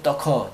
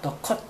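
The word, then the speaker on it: ducat: 더 커. 네가 더 컷. 더 컷. 더 컷. 더 커가 아니고 더 컷입니다. 더.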